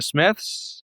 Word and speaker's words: Psmith: So the the Substack is uh the Smiths. It does have a P at the front of it even though it's pronounced Smith.